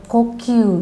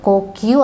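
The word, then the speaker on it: 呼吸: Jadi pernapasan itu dibacanya adalah kokyu. Minasang yang nomor 2 ya. Kokyu artinya pernapasan. Ingat, ko-nya nggak panjang ya, tapi pendek. Kokyu.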